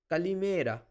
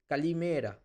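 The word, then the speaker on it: καλημέρα: Kalimera. You see there is an emphasis. Means you have to stretch the vowel here. So, it is kalimera.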